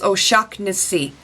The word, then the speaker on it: O'Shaughnessy: My last name is O'Shaughnessy, like electric shock and then Nissy. I know it's a weird name, it's a very Irish surname, it's a very Irish name.